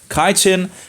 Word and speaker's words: chitin: fungal cells walls contain chitin I think it's it's pronounced chitin as opposed to the